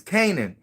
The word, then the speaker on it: Canaan: Oh, it's not Karen. It's Canaan.